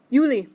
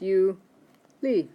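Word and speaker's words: Juli: in June okay so try the next one yuly ok so that's you Lee and that's July so these are only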